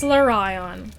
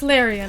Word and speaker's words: Larian: point, he was like, you know it's pronounced Larian, right?